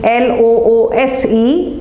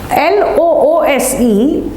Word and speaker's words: loose: Loose is an adjective and you pronounce it with an S so it's loose it's loose. You have to say it several times,Iit's loose,(s) it's not loose (z) it's loose, and what does it mean?